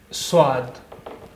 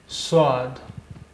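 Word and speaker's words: صاد: का अगला अक्षर है स्वाद स्वाद इसका उच्चारण हिंदी के सा जैसे इसकी आवाज हिंदी के सा जैसी है इससे पहले एक अक्षर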